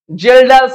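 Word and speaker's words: Kjeldahl: মেথডটা আরো একটু ঝামেলার জেলডালস মেথড কে টা সাইলেন্ট আছে এক্সপেরিমেন্টাল সেটআপ টা একটু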